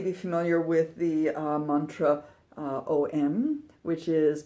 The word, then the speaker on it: Om: so you may be familiar with the mantra om which is pronounced own and is thought to be the